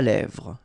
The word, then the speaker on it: lèvres: lèvres, un rouge à lèvres, same thing here, final S not pronounced, and then this E accent grave here, it gives you the E, really open sound, lèvres, alright, un maquillage, okay, so